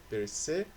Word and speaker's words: percebeu: Percebeu. Beu, sílaba tônica. É a última oxítona.